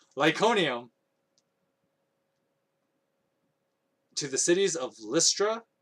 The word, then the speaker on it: Iconium: fled to god um how do you say that lyconium that's how you say it lyconium to the cities of